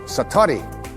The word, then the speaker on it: satori: And he had what is called in Japanese it's called, excuse my Japanese, but it's called satori.